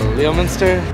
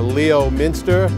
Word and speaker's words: Leominster: Leo Minister. Limchester. Leominster. Leominster. It's not Leo Minister or Leo Minster, it's Leominster.